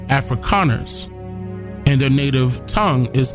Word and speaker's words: Afrikaners: calling themselves africans but it's pronounced afrikaners with the k afrikaners and their native tongue